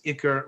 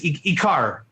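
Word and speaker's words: עיקר: Is it Iker or it's Ikar? If you're gonna Ikar, I would, if you want to be really yeshivish, it's this. If you want to pronounce it correctly, it's this. It's really an Ikar, but it's really an Iker. If you're talking to a rabbi, it's an Iker.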